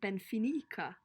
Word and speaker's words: Finnicker: No, it's spelt like Ben Finnicker, but you say it Ben Finica.